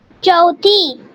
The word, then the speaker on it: चौथी: चौथी, चौथी, प्रोनाउंसिएशन को थोड़ा सा च के ऊपर ध्यान दो, हाँ, चौथी। हिं, चौथी, नहीं, हिंदी की जैसा चौथी नहीं बोलना है, चौथी।